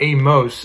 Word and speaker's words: Amos: zia you got amos yes i think that's actually how you pronounce amos amos it's not amos as i originally thought it's actually amos which makes it sound kind of odd but it is true it's amos but i really do just